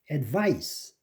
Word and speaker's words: advice: advice. 아주 중요한 거죠. 여러분 advice인데 advice가 아닙니다. advice. 그래서 이거를 좀 유의해서 이 발음을 이렇게 advice 이래야지 이거 미국식 영어지 advice 그러면 한국식 영어가 되는 겁니다.